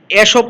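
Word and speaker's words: Aesop: ওয়ান অফ দ্য এসপস বা কেউ এখানে দেখো এসব আছে, কেউ কেউ এসব বলে, কেউ কেউ ইসব বলে, অসুবিধা নেই। এটা দুই রকমই বা দুই উচ্চারণই করা যায়।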